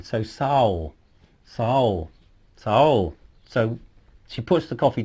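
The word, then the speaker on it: sağol: if you like so Soul okay it's like owl with an S at the beginning so soul soul soul so she pushed the coffee down on the table for you and you say soul and she'll say be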